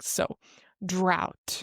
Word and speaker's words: drought: And this word drought is easier to pronounce than it looks. This word is basically just like the word out except with a dr sound at the beginning. So drought. Drought.